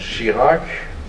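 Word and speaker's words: Chirac: ago but as president she Lark that rhymes with Iraq is said once promises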